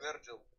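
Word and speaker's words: Vergil: Верджин? Ну, имя произносится как Верджил.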